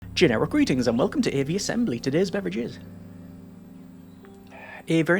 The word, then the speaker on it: Aviassembly: Generic greetings and welcome to AV Assembly. Today's beverage is a very nice Royus or Red Bush Tea. So, welcome to I believe it's pronounced AV Assembly.